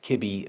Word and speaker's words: kibi: m i and gi pronounced kibi maybe and gibby which sounds kind of dumb but at least it's